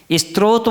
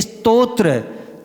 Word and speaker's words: स्तोत्र: लोग बोलते हैं क्या स्त्रोत बोलते हैं जब क्या बोलना चाहिए स्तोत्र ता पहले है और त्र क्या है बाद में है स्तोत्र यानी हमारी रक्षा